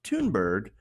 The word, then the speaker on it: Thunberg: a garbage person also her last name is pronounced tune bird so in addition to